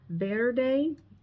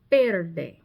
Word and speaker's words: verde: It's not verde with the letter V, but it's better with the letter B.